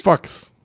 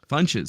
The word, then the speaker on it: Funches: No, I think it's pronounced Fox. It's Funches. You're both wrong. It's Funches.